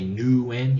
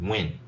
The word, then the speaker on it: Nguyen: to mean nguyen but you're not supposed to say nu in you're supposed to say win no you don't pronounce